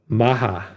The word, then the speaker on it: MAHA: Maha. It's not like Robert meme, Kennedy is it? Jr. thing. Brian's going to look it up. Yep. Maha.